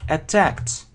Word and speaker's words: attack: They attacked their enemy. Значит, если это глагол, то attack. На второй слог.